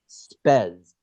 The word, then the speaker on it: spez: And it's pronounced spez.